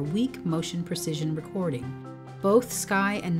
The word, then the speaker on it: scai: Continuing the theme of instruments named after Swiss peaks, our next generation of seismic recorders are scai (sounds like sky) and nair (rhymes with fire) in the GMS series.